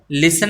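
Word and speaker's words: listen: नहीं ए रहा और जो लिसन है इसको अपने बोलेंगे लिसन बोलते हैं लिसन तो लिसन में के अंदर टी जो है वो साइलेंट हो जाएगा तो जो साइलेंट शब्द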